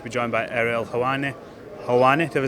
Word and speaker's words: Helwani: Helwani, have I said that right?